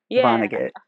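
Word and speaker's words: Vonnegut: You pronounce it vonagget. I try to over pronounce it.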